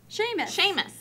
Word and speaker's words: Seamus: Seamus. There's no H in that name. I know, that's how it's spelled, though, Steve.